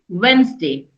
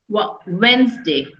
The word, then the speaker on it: Wednesday: Okay, so in Wednesday, there is no D. D is silent. We always speak Wednesday. Wednesday.